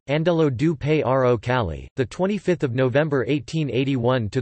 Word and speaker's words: Angelo Giuseppe Roncalli: born Angelo Giuseppe Roncalli, Italian pronunciation, Andello du Paro Cali, 25 November 1881 to